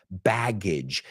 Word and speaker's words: baggage: Baggage. Rima con bridge.